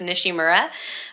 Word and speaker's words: Nishimura: Like, I pronounce it the way my family has pronounced it my whole life, so it's Nishimura.